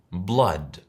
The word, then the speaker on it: blood: Blood. ¿La has pronunciado igual que yo?